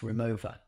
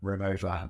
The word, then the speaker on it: Rimowa: The fun fact for you is actually pronounced Rimowa. Is it? Yeah, and so I always called it Rimowa, and I met someone from Rimowa, and then they corrected it and said it's Rimowa.